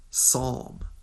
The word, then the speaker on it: Psalm: okay they called their baby boy get ready Psalm that's the yeah the front